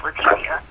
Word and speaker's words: Letecia: And then, anyway, so the other girl, her name is Letecia, spelled the same way, but, it's like, they say, like, Spanish, Letecia.